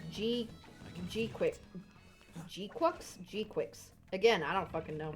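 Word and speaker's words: GQuuuuuuX: Apparently it's just pronounced G-Quix.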